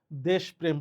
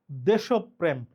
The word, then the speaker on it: দেশপ্রেম: দেশপ্রেম শব্দের সঠিক উচ্চারণ কোনটি? নরমালি আমরা পড়ার সময় দেশপ্রেম পড়ি। এই কারণেই আমাদের পরীক্ষায় এটা ভুল হয়। মূলত এই শব্দটি হচ্ছে দেশপ্রেম।